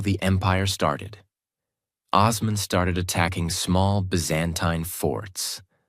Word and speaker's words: Osman: We are the Ottoman state and this is our land." That was the birth of the Ottoman Empire. A name that came from Osman. Osman. Ottoman in Western pronunciation.